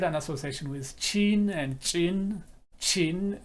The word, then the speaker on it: ጭን: association with chin and chin. Chin. Chi is an explosive form of chi. So chin, English doesn't have this sound. The chi doesn't exist in English.